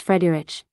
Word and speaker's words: Friedrich: it my name is Friedrich it's an Afrikaans name from the old German Frederick which means peaceful ruler it is pronounced Freddie rich and I'm from azania